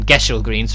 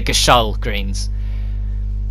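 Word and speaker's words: Gysahl Greens: play our pronounce it took me a long time to learn that I call them get your greens for a long time but now they're Gasol greens made from the village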